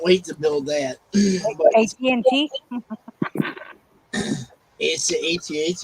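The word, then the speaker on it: AT-AT: to build that AT&T atat yes you said it right not like these guys that say add at I just say AT&T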